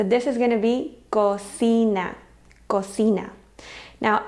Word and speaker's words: cocina: Now, I often hear a lot of my students say cochina. And I think maybe it's from Italian. I'm not sure. There must be a word that they're confusing it with. But cochina in Spanish would be spelled with a ch, cochina, and it would be this. So this is just cocina. So when you see it, just think it sounds just like si, cocina.